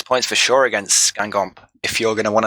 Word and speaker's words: Guingamp: Or give me the pronunciation, Ombrack, because I mess it up. En avant de Guingamp.